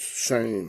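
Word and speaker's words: שֵׁם: That's not the anoma, or in the Old Testament, the shame, S-H-E-M. That's the way they spell it. It's pronounced shame.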